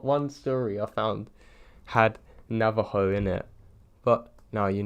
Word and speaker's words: Navajo: them and yes I'm fully aware that it's pronounced Navajo not Nava joy its lychee because I've spent my entire life